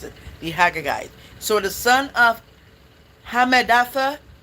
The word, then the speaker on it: Agagite: That's how you pronounce it. The Haggagite.